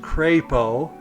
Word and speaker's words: Crapo: the sand dunes, because this name, which by the way is pronounced Crapo, not how you think it is pronounced, is my mother's mother, or my grandmother's, last name before she married my grandfather.